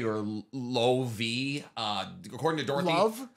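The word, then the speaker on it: Loewe: a French brand but the name is German so the W is pronounced as a v so it's I I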